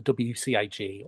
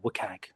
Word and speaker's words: WCAG: I'll start by talking about the Web Content Accessibility Guidelines or the WCAG or Wukag, depending on how you say it.